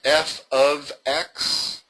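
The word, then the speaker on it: f(x): fx = 3x + pronounced f ofx.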